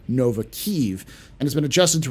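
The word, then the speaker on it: Kyiv: spelling the city name to better reflect Ukrainian pronunciation of keev therefore the lore poost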